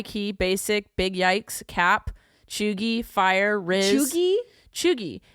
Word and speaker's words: cheugy: But like I saw drip, ghosted, goat, high key, basic, big yikes, cap, chuggy, fire, riz.